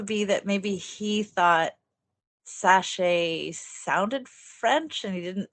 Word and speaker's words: Sachse: German last name uh and he changed the pronunciation and added an e at the end so like it would normally be zaka like and he added an e and decided